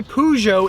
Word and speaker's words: Peugeot: Sadly and unfortunately, the Peugeot 308, we have to return it. I'm sorry, I don't know how to pronounce. I say Peugeot, it's actually Peugeot.